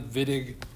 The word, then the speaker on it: Wittig: That's German. I pronounce it like a W. But in any case, we say Wittig, which means it's a named reaction.